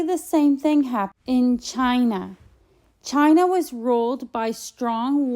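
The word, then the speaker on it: Qin: the Waring States of China all became part of one country the Waring State all the way to the east was called chin pronounced chin its warlord chin Zen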